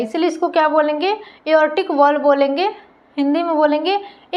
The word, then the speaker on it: aortic: और एक वॉल्व यहाँ पर प्रेजेंट होंगे, जिसको बोलेंगे एओर्टिक, AORTIC, ऑर्टिक वॉल्व। इसमें आर क्या होते हैं, साइलेंट होते हैं, इसलिए इसको क्या बोलेंगे, एओर्टिक वॉल्व बोलेंगे, एओर्टिक कपाट।